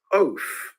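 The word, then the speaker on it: אוֹת: And the word sign in Hebrew is pronounced oath. That is how we would pronounce it in the English.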